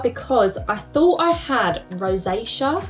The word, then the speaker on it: rosacea: I originally looked into Dermatica because I thought I had rosacea. Is that how you pronounce it? I think it is. Rosacea.